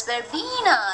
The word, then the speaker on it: verbena: seen this house okay in fact when you write it as well b-e-n-e were better but actually when you pronounce it you have to pronounce it as verbena like the beads where